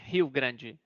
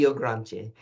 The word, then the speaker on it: Rio Grande: H I said H Grande. But you're right. Hio Grande. Hio Grande.